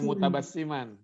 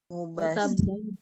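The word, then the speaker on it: مبتسما: Bukan mutabassiman. Mubtasiman.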